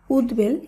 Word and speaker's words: উদ্বেল: আমরা শুদ্ধভাবে উচ্চারণ করব শব্দগুলির উচ্চারণে ব ফলার কোন পরিবর্তন হবে না তাই উদ্বেল এই শব্দের শুদ্ধ উচ্চারণ উদ্বেল এভাবেই হবে উদ্বেগ এর